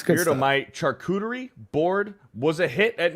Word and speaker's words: charcuterie: By the way, Beardo, my characterette board. Oh wait, not characterette. I don't know how to say this. It's like the board. Charcuterie?